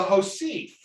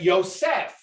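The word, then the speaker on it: יוסף: say to add right it's le josef right yosef right yosef he added right so this word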